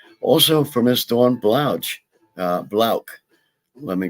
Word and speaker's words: Blauch: And also for Miss Dawn Blauch, Blauch. Let me correct myself. I constantly mispronounce names, and she's been so kind as to not like chastise me too hard about that.